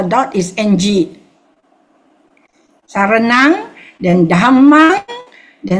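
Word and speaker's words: Dhammaṃ: Saranang, then Dhammang, then Sanghang. Okay, so the Sanghang, okay, we do the first one first. Buddhang Saranang Gacchami. Remember the GAC, double syllable, we pause. Gacchami. So, Buddhang Saranang Gacchami. Dhammang Saranang Gacchami.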